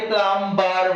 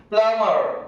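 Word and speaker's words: plumber: এম বি ই আর, এটাকে আমরা অনেকে প্লাম্বার বলি। দিস ইজ রং প্রনাউন্সিয়েশন, এটা কিন্তু ভুল উচ্চারণ। এম এর পর বি এলে বিটাকে সাইলেন্ট রেখে দিয়ে উচ্চারণ করো। প্লামার, কি বলে, প্লামার, প্লাম্বার নয়, প্লামার।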